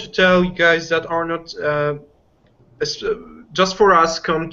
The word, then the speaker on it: Arnaud: say one more thing of course the D is silent am I right it's supposed to be pronounced Arno right yeah yeah so